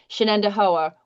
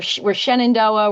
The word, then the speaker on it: Shenendehowa: Just like nobody knows how to say Shenendehowa. We're Shenandoah. We're Shehendanoah. We've been called everything.